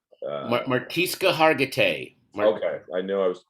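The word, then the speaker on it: Mariska Hargitay: I think that was, I don't know how to say her name from Law and Order, Martiska Hartogay. Martiska Hargitay.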